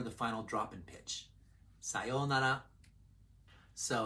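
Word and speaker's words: さようなら: Sayonara. This word sometimes has 5 beats. Sayonara. And that's more formal than when it's pronounced with 4 beats. Sayonara. Pitch accent pro tip. Start low and then continue high.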